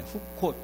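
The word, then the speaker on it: חקות: 이렇게 발음해. 후콧 이렇게 발음.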